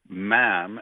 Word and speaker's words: ma'am: And so the official ruling we got was it's pronounced like jam. And you're not supposed to say mom or mom. Uh it's j ma'am.